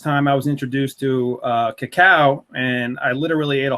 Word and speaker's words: cacao: Pure chocolate comes from the cacao bean. Well, technically it's nut, cacao nut, and this is spelled C-A-C-A-O, cacao, not cocoa, and this is the purest form of raw chocolate.